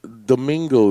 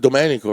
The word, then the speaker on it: Domenico: And they're like, "Is Domingo there?" Domingo. I get that one all the time. It's supposed to be Domenico, right?